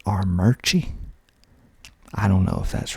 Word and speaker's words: Armuchee: I'm not really sure how you're supposed to pronounce this next one, but Armurchie, Armurchie, Armuchee, and I'm told the locals pronounce it Armurchie.